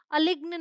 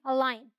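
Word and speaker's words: align: तो ये क्या है अलाइन अलग्न नहीं है अलाइन ये सिग्न नहीं है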